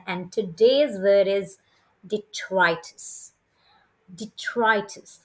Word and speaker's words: detritus: for turning in and today's word is dtis detrus how do you pronounce it dtis repeat after me d dtis detrus d e t r i t u s